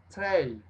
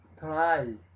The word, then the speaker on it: tray: Tray. Bandeja. Tray. Glass. Vaso. Cup. Taza. Bueno, no alcanzó a taza ahí, entonces hasta vaso. Plate. Serving dish. Try. Pero es tray. La pronunciación, tray.